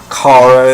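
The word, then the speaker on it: Kara: other but anyway uh they pronounced it Cara and those and sorry they pronounced Cara in those two films as well so the Supergirl TV series is a return to Cara and I'm happy Cara has always been my preferred pronunciation uh but yeah check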